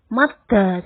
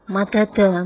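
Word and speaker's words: مدّ: Jadi madda itu yang betul madda, jangan madada, meskipun asalnya madada.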